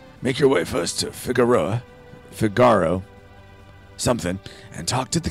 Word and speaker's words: Figaro: Oh, I'm pronouncing it wrong. It is Figaro. Figaro. Okay, yeah. I don't know why I'm saying Figaro.